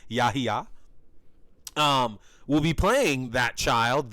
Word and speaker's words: Yahya: And that is how it's pronounced, Yahya.